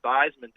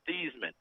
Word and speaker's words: Theismann: a blank look because the real family name is Thiesman. Oh. They changed it to Theismann at Notre Dame to rhyme with Heisman, and they were trying to get the Heisman Trophy.